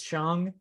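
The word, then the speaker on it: Shang-Chi: rings yes i got reprimanded by someone by pronouncing it shang so now i know i learned it's chong chongqi legend of the ten rings comes out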